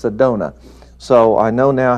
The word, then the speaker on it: Sedona: from Sedona Arizona I've been corrected it's not Sedonia it's Sedona so I know now how to pronounce it so I apologize for anyone that